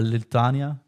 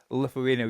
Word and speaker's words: Lithuania: then we go into Lithania do I pronounce it properly Lithuania you call it Lithuania Yeah.